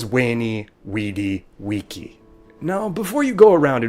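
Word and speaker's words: veni vidi vici: said wing carey and why caesar's phrase was wayney weedy wiki now before you go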